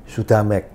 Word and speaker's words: Sudhamek: Iya, jadi saya waktu kecil itu dari sejak umur 3 bulan diberi nama Sudamek. Sudamek itu bahasa Pali, Su dengan Dhamma sebetulnya, tapi dibacanya Sudama, ada tambahan huruf K, Sudamek gitu ya.